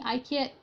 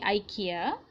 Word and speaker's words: IKEA: So if you look at certain brands like IKEA, people are saying IKEA in your pronunciation. IKEA, it's supposed to be IKEA.